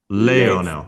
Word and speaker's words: Leonel: Um, and then Lionel said something like, so sorry, how do I pronounce it? Lionel or Lionel? Leonel.